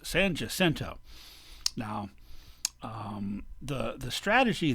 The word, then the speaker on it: San Jacinto: battle of san jacinto which actually would have been pronounced by the mexicans is san jacinto but the anglo's one and they're in charge now so it's san jacinto now um the the